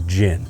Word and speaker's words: GHIN: It's Actual GHIN, pronunciation from the USGA is GHIN. but we're going to say GHIN.